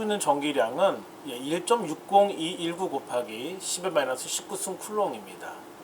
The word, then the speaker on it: 쿨롱: 자, 그래서 이니셜을 Q라고 말하고 단위를 C라고 썼는데 읽는 법은 쿨롱입니다. 그래서 Q 쿨롱 이렇게 읽으면 됩니다. 자, 우리 전 차트에서 배웠다시피 전자 한 개 가지고 있는 전기량은 1.60219 곱하기 10-19승 쿨롱입니다.